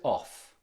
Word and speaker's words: of: accentuated in any case it is very very common for this word to be pronounced of okay Villages of this